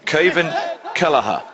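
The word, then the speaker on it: Caoimhín Kelleher: that'd be so silly you only pronounce it like that if he's from cork in ireland well he is from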